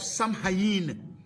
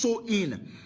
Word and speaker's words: Samhain: date back to the ancient Celtic Festival of Sam Hain pronounced so in the cows who lived 2 000 years ago